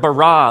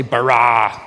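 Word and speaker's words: בָּרָא: now the word for create is the word barah let me hear you say barah it's this forceful energetic word of making things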